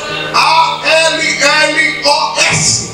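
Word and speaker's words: ἄλλος: Observe bem a palavra outro no original grego quer dizer se pronuncia e se lê a L o s. Alos.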